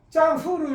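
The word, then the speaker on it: 丈夫: 그 다음에 요거는 짱후로 읽어요. 짱후로 읽으면은 일성으로 읽으면은 요거를 일성으로 읽으면은 장부하고 사내가 되고 경성으로 읽어야 돼요. 여기서는 경성, 칭성으로 짱후. 그래야 남편이 됩니다. 발음 조심해야 돼요.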